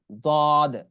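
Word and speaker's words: ض: হ্যাঁ, এরপর আছে হলো 7 নম্বর মাখরাজ জিহ্বার গোড়ার কিনারা। জিহ্বার গোড়ার কিনারা উপরের মাড়ির দাঁতের গোড়ার সঙ্গে লাগাইয়া। জিহ্বার গোড়ার জিহ্বার গোড়ার যে কিনারা আছে উপরে মাড়ির দাঁতের গোড়ার সঙ্গে লাগাইয়া তারপরে উচ্চারণ হবে। কি উচ্চারণ হবে? দদ, দদ, দদ।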